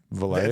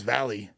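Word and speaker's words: Valee: Valley. Valet. That's how you say it. You say Valet. I thought it was Valley. No.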